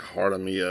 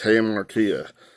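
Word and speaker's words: hamartia: tongue tied saying and i said i think i said something like heart of mia or something like that but it's him ortiz i'll have it pronounced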